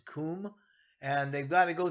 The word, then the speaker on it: Cwm: It's actually spelled CWM, but it's pronounced Coom.